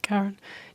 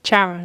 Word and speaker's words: Charon: able to pay Chiron or it's not Kar so it's just spelled like karon Charon actually anyway sorry they